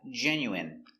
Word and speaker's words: genuine: Next we have genuine. So remember, the i n e is pronounced in.